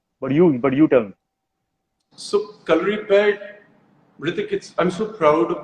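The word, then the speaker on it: Kalaripayattu: so calorie pad, Hrithik, I'm so proud of the fact that you said the name correctly because in India, I Thank don't you.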